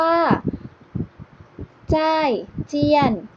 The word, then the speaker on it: 再见: คำ ว่า ลา ก่อน ภาษา จีน พูด ว่า ใช่ เทียน คำ ว่า เจอ กัน ใหม่ พรุ่ง นี้ ภาษา